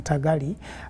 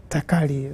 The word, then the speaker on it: Takali: to pronounce it because she has been complaining that I was calling her Tagali, but it's Takali, that's the right name.